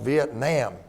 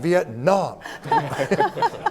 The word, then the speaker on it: Vietnam: and said young man it's not pronounced Vietnam it's pronounced Vietnam we need to show respect to these people and it was sort